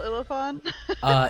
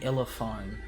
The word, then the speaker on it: Illefarn: spell Ilifon? It is spelled ILLEFARN. I was expecting it to be half like elephant, but that's fancy.